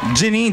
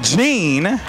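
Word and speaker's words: Jeanne: and morty gian jim jenny jean oh i've been saying it wrong gene carried a sign reading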